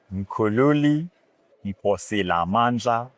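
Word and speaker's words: Mkhululi Nkosilamandla Ncube: Maybe you should tell viewers how to correctly pronounce your name. Mukululi Nkosilamandla Okay.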